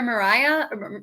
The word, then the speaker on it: Mariah: like every vote was Mariah. Yeah. Which I didn't know how to say her name until yesterday. So same. I thought it was like Maria. I was like, is it another Mariah or Marianne?